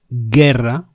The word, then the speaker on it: guerra: For those two sounds, you have to add a u in the middle of the ge and the vowel, as in guerra, which means war, and guitarra, which means, of course, guitar.